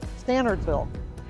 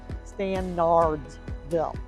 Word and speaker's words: Stanardsville: off and out of the rim it is pronounced standardsville it is not pronounced standardsville all right so if you look up and